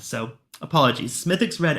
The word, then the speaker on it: Smithwick's: is smithx Red Ale I've just been informed that the Smith Wix the W is silent so apologies smithx red L uh 4.5%